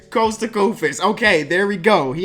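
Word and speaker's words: Kosta Koufos: Costa Kufis.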